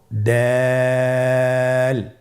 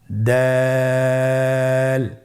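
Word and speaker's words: دال: এই হরফটি উচ্চারণ করার সময় আমরা অবশ্যই 3 আলিফ টেনে পড়ব। দাল, আমার সাথে আবার বলুন, দাল।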